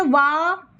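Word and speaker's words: what: ह आएगा साइलेंट में ठीक है तो आप ऐसे पढ़ेंगे वा वा क्योंकि हा आ रहा है इसलिए आप इसको इस तरीके से पढ़े वा आट आट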